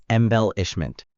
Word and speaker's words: embellishment: You're saying embellishment with emphasis in the last syllable. Now try putting the emphasis in the second syllable.